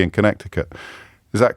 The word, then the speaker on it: Connecticut: Now I'm going to have to unpronounce it again because it's a silent C.